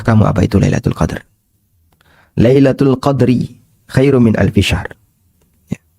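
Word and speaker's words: ليلة القدر: Bisa juga kata al-qadar di sini dibaca dengan dalnya disukun. Dibaca dengan al-qadru. Dalnya disukun. Sehingga bacanya Lailatul Qadri.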